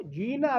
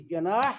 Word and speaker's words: جناح: وہ جینا لفظ ہے، قوم تھی، برادری تھی. یہ جناح لفظ تو ہمارے تلفظ کے لیے جناح لفظ نہیں ہے، جینا، محمد الجینا.